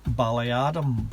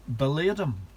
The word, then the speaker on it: Ballyadam: And this side up here was what I would pronounce Ballyadam, but the locals pronounce it Balladam.